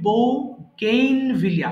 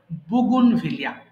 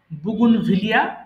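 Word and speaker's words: bougainvillea: বড় বড় একটা ওয়ার্ড যদিও মনে হচ্ছে বউ গেইন ভিলিয়া এরকম হবে না উচ্চারণ হবে বুনভিলিয়া আমার বাংলা একটু দেখে নিবেন তাহলে ভুল হবে না বুনভিলিয়া মানে বাগান বিলাস চাইনিজ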